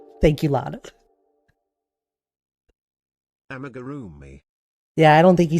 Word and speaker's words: amigurumi: Amigurumi. Yeah, I don't think he said it right. Amigurumi.